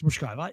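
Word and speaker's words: Muchová: How do you pronounce it? It's much. It's Mushkova.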